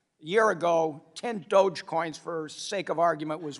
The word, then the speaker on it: Dogecoin: Dogecoin. All right, I have 10 Dogecoins, all right? A year ago, 10 Dogecoins, for sake of argument, was worth $1,000, so $100 a coin.